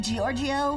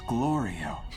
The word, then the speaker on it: Glorio: it even the point hey Giorgio it's glorio you're doing that on